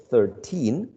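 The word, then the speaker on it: thirteen: So instead of saying 13 people, we shift the stress of 13 towards the first syllable, and we say 13 people, 13 people, 14 people, 16 people, 16, 16 people.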